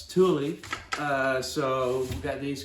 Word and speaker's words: Thule: here is we've got a wait for the pronunciation thule uh not thule uh it's thule uh so we've got these guys here uh